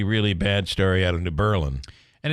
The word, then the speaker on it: New Berlin: It's Berlin, Germany. It's New Berlin, New York. New Berlin. Just how it's pronounced. Maybe it was a redneck thing. I don't know, but that's how everybody in New Berlin pronounces it.